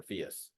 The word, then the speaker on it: PHIUS: It now simply stands for PHIUS. Rhymes with Prius, in case anybody's curious.